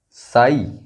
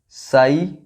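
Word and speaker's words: sigh: यहां भी जी H silent है. फ्लाइट, ब्राइट, site, साई, हाई. Good. फ्लाइट, ब्राइट, site, साई, हाई.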